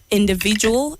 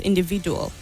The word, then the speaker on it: individual: to you Massy Ruth the word is individual and not individual the D at the end at the last syllable takes the sound J and not D individual tourism the word